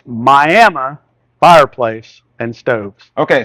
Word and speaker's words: Miami: fireplace and stoves okay so some people if they are coming from a Floridian perspective like me uh might think okay the way I pronounce it is Miami that's how I would have pronounced it before I lived in Oklahoma for such a long time but the way you